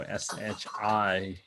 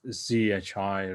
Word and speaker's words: zhi: shito, then they go shi, she, and then I like it zhi rather than shi, because it's that's the right pronunciation.